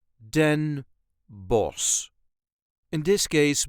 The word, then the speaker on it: Den Bosch: us duchies say denos den boss there is a light emphasis on the last part Den boss den boss in this case we don't pronounce the CH which would technically be a harsh G A so this time